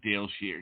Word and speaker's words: Dayle Schear: You are live on the air with Psychic Dayle Schear.